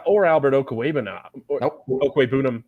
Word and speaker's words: Okwuegbunam: Okwuegbunam, I think actually is the right way to pronounce that.